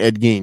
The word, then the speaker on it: Ed Gein: So that's how you pronounce his name, Ed Gein.